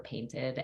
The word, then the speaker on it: Peinte: just say like paint it's literally French for painted and when you do the pronunciation of it it's like paint they just have they